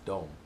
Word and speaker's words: de: Swedish like don't like they say for them is spelled as D you see it looks like did but it's pronounced as don't and I have a